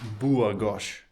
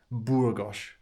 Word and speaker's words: Burgos: Oh yeah, I asked the lady at reception, it's Burgos. Burgos. That's how she said to pronounce it.